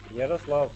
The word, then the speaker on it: Yaroslav: Jaroslav, how are you? Fine, very well. Now, am I pronouncing your name somewhat correctly? Yaroslav taki. Awesome.